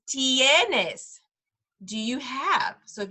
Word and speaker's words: tienes: the last phrase is tienes tienes and again look at those vowels tennis has some vowels in it t the I makes the e sound remember so it's tienes do you have so